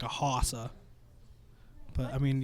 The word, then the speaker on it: Hossa: I had a hockey one that was like a Hossa. But I mean, it's pronounced Marion Hossa, so the joke was kind of lost on everybody.